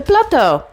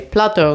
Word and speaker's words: Plateau: Golden Mile and the Plateau. It is how they say it here. Plateau, not plateau. It's spelled the French way.